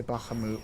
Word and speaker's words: Bahamut: I've always said Bahamut. Hope that doesn't bother anybody. I hear a lot of people say Bahamoot, but too many years of what is it?